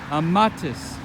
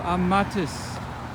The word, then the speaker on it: amatis: Amatis. You plural love. The stress falls on the second to last syllable. Amatis.